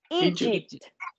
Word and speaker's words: Egypt: Egypt. Ajá, esta E se pronuncia como I.